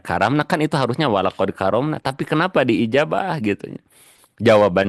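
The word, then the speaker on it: كرّمنا: Ayah bunda kan itu bacanya salah. Harusnya kan bacanya gini ayah bunda. Walakad karomna bani Adam.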